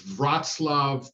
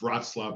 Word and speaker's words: Wrocław: It's Wrocław, Poland. I think I'm pronouncing it right. It's spelled W-R-O-C-L-A-W, but I'm pretty sure it's Wrocław and not I don't know.